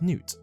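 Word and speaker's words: Neith: However, the god's name is pronounced Newt.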